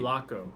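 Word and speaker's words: Sulaco: Sulco. That's how you pronounce it.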